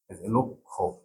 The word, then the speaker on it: লক্ষ্য: যদি যুক্ত বর্ণের সঙ্গে মফলা জফলা এবং বফলা কোনো থাকে তাহলে তিনটির একটিও উচ্চারণ করা যাবে না। যেমন এখানে আমরা শুরু দেখি, তাহলে উচ্চারণ হবে লক্ষ্য, জফলাটা উঠে গেল।